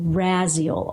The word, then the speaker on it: Raziel: And this is Archangel Raziel, R-A-Z-I-E-L. That's how I pronounce it. I've heard Raziel. I've heard all kinds of stuff.